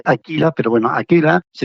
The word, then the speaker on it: Akela: sencilla razón de que aquella se pronuncia aquila Pero bueno aquí la